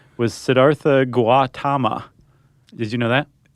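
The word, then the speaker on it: Siddhartha: the Buddha uh whose name whose original name was Sedartha Guatama. Did you know that? Actually, Sedarta. Okay, so the H is silent.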